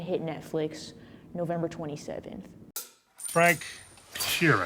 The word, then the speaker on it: Frank Sheeran: Frank Sheeran. Am I saying that right? Yeah, you said it right.